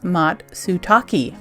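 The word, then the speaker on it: matsutake: tiny little black cat named matsuki pronounced matsutaki oh pardon me matsutaki the word matsutaki is a rare japanese mushroom japanese words make great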